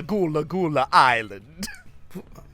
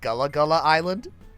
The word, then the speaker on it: Gullah Gullah Island: How's it pronounced? Yeah. It's a Gullah Gullah Island.